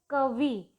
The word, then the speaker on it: कवि: तो कवि, कवि में वा पर हमें ज़्यादा जोर नहीं लगाना है और उसमें छोटी ई की मात्रा साउंड कर रही है, तो हमें सीधे सीधे सही उच्चारण उसका क्या बोलना है, कवि।